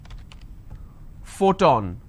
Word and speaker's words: photon: not always for example if i have the word which is photon now here the letter p needs to be combined with h and it becomes an f the first sound for example if i